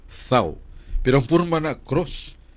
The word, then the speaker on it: tau: sa Hebrew alphabet ang letter tau, THAU, pronounced thaw.